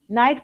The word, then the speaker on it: knight: Night pronunciation night and night. One is with a K, one is without a K.